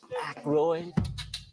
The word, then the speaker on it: Aykroyd: Chevy Chase, Gilda Radner, Dan, I ain't got, how the fuck do you pronounce this? Aykroyd.